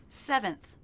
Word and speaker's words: seventh: Seventh, just like second, stress is on the first syllable.